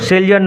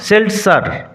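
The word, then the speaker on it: seltzer: Drinking Haque and সেলসার উচ্চারণ লক্ষ্য করো। সেলজার নয় সেল স্যার ড্রিংকিং হক এন্ড সেল সার জেড এর উচ্চারণটা এস এর মত হবে সেল স্যার স্ট্রল স্ট্রল থেকে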